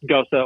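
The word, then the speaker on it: Gose: you have a ghosta it looks like just g-o-s-e pronounced ghosa or ghost um is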